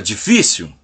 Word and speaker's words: difícil: Já a palavra difícil, ela tem a difícil.